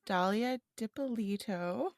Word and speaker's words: Dalia Dippolito: episode Ashley is going to be talking about Dalia dipolito yeah good job okay good I paused for